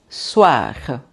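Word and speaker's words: soir: Continuando, o i. Lembram que a gente fala? Hã? Ua? Tá? Então eu vou dizer soar. Soar que é noite, tá?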